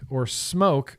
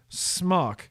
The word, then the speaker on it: SMOK: I feel like m.Terk, which once upon a time, smoke was called m.Terk. m.Terk. And that's why I know how to pronounce it smoke instead of smock, because they used to call themselves m.Terk.